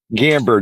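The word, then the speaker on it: Gamburd: Give me the pronunciation of your last name. Gamber.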